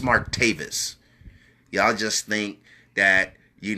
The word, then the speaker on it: Martavis: know what I love I love how many people mispronounce his name and call him martavius no it's Mark Davis y'all just think that